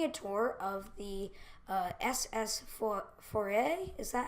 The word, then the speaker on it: Foray: to be taking a tour of the SS Foray. Is that how you pronounce it?